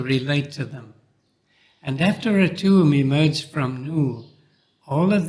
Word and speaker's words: Atum: and the name of a tomb is written with two hieroglyphs a half circle pronounced t and a sled pronounced tum I've already spoken a